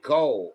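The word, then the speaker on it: kohl: Beyond cosmetics, Egyptians wore coal to protect their eyes from the harsh desert sunlare, deter flies, and shield against eye infections due to Galina's antibacterial properties. You say it like coal.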